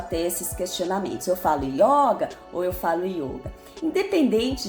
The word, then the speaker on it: yoga: o sânscrito então resumindo O correto é a gente escrever y o g e pronunciar yoga não yoga e sem nenhum assento na hora da gente